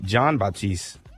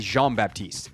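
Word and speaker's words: Jean-Baptiste: sir javante Jean bapti John Baptist is it Jean or John uh I believe it's javante Jean Baptist je we're going with the French pronunciation because it's spelled the French way yeah so we had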